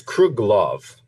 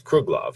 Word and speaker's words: Kruglov: right is actually the no it's kruglov k r u g l oov so it's kruglov he is the CEO